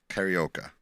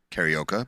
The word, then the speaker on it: Carioca: Very few people are aware of this, but one of the Tres Caballeros is Jose Carioca, right? Oh right. But it's not. His actual name is Jose Carioca because that's how the Portuguese pronounce that.